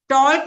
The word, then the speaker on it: talk: टॉक नहीं होता है, एल इज ऑलवेज साइलेंट।